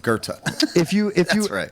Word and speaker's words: Goethe: Yes, Goethe. Oh, is that how you say it? Yes. Sorry. Okay. But that's a fucking philosopher, Goethe.